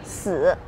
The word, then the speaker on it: 死: Because pronunciation with 4, in Chinese we pronounce as 四. And then another word means dying, we pronounce as 死.